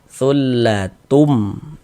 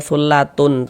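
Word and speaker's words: ثلة: Bunyi tanwinnya ini dimasukkan ke huruf mim. Kita baca thullatum. Jangan dibaca thullatun, tun, jangan, tapi tum.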